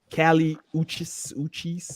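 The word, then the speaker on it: Kali Uchis: Now, how you pronounce this shit? Cali Uchis.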